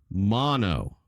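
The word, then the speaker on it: Maono: Okay, so here's the official pronunciation. What is it? Mono.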